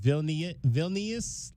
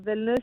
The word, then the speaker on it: Vilnius: All right, I ask all of the international students these two questions, and help me if I'm mispronouncing the name of where you're from. Is it Vilnius, Lithuania? Vilnius?